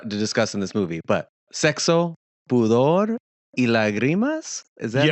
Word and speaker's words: Sexo, Pudor y Lágrimas: There's a lot to discuss in this movie, but Sexo, Pudor y Lágrimas?